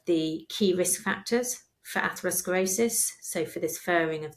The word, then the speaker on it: atherosclerosis: ones like damage to the cell wall aosc atherosclerosis is that how you pronounce it yeah what's going on there yeah so um atherosclerosis in a kind of really simply put is